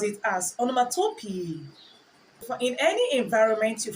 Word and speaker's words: onomatopoeia: or onomatopoeia the correct pronunciation is onomatopoeia some pronounce it as onomatopoeia for in any environment you find yourself I'm